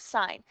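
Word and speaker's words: sine: So, our first one is sign. That's how we pronounce that is sign. On your calculator, we'll get to using this button, si N button for sign.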